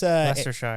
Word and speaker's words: Leicestershire: I think it's Leicestershire. Leicestershire. Yes. That's spelled like a... Yes. Yeah, it's like Worcestershire sauce.